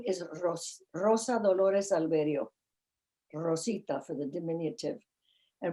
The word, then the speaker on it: Alverío: name," because it was Alverío. - Right. - Alverío. You cannot pronounce that name properly. Nobody. Avrayo, Alvez, Alvarez.